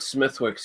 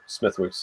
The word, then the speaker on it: Smithwick's: i had under the smithwick's name and i guess i guess it's pronounced uh smidx apparently if you ask anyone from over the pond yeah potato patrician whatever